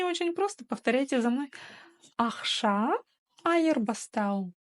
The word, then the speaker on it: ақша айырбастау: Да-да-да, алгоритм остается прежний, как пишется, так и читается. Ни одна буква не искажается, и каждое слово делится по слогам.